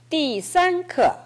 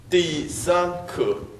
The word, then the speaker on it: 第三课: 띠가 일성으로 나왔어요. 第三课 했어요. 띠 아니고 띠. 띠.